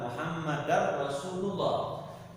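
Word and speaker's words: مُحَمَّدًا رَسُولُ اللَّهِ: Enggak boleh mir rabb atau asyhadu anna muhammadar rasulullah. Di sini muhammadar rasul. Muhammadan Rasul. Tanwin menghadapi roh, tidak boleh dibacanya dengung.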